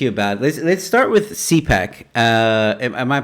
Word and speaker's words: CPAC: Let's start with CPAC. Am I pronouncing it correctly? CPAC.